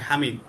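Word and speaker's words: حامد: একজন মানুষের নাম হচ্ছে হামিদ, তুমি বলবা হামিদ বাংলাতে, কিন্তু এটার আরবি উচ্চারণ হচ্ছে কি হামিদ, হা দিয়ে।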